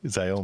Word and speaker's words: Xiaomi: Xiaomi. Xiaomi? Xiaomi. Very This good. is Xiaomi. Is that what it is? Xiaomi.